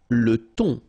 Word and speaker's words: thon: Le thon. Remember, H here is not pronounced. Le thon.